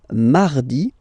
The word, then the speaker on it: mardi: So you can hear that you don't pronounce it that strongly, this R. Huh? Mardi, mardi, okay? You don't need to go too deep like mardi. No, no, no.